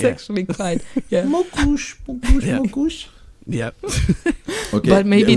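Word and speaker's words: mókus: It's mokus. It's Mokus. actually not Easy, that easy, hard. easy. That's nice. Easy. Yeah, that's mokus. easy. It's Yeah. actually quite. Yeah. Mokush.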